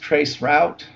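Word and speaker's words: tracert: Trace RT, or pronounced trace route, allows us to follow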